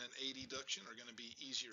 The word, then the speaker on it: adduction: abduction and adduction, and my southernese kind of gets in the way, so I mispronounce it. Abduction versus adduction.